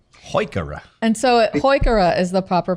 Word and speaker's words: Heuchera: like to we has a wonderful line of heuchera and when I told him that he had